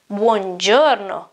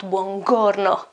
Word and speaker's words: buongiorno: The same goes for the G, and you already know that, because we have used that here. You didn't even notice. G, here it is. You have a I after that, so you don't pronounce it G, G, hard, but you pronounce it G, buongiorno, and not buongiorno, right?